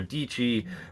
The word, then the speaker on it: Dici: He talks a lot about his girlfriend, Sarah Dici, rhymes with Peachy.